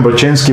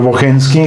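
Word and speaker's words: Bocheński: Aquí lo pronuncian Brochenski, pero él lo pronuncia, yo creo que un poco al alemán, aunque era polaco, ¿verdad? ya murió eh el profesor Bohenski, gran historiador de la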